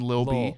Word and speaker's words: Lil B: At first, You're I was pronouncing like, the T's in little, which isn't in Lil B.